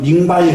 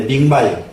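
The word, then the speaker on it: 明白: 그래서 지금도 이 백자는 안다는 뜻으로 밝을 명자하고 흰백자를 쓰면 밍바이 그러는데 밍바이. 너무 잘 알고 똑부러지게 아는 것은 밍바이 그럽니다. 지금도 밝을 명자는 밍으로 발음을 하고요. 이 흰백자는 바이로 발음을 해서 밍바이라고 하는데 그것은 명백하다.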